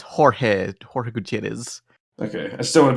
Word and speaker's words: Jorge: Oh well, it's same as George, but in Spanish, so it's Jorge Gutierrez.